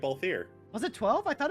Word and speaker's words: Balthier: Balther from Final Fantasy XII? Hero wasn't pronouncing it Balthier.